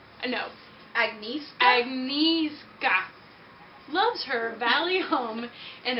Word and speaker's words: Agnieszka: Agnesia. No. Agnieszka? Agnieszka.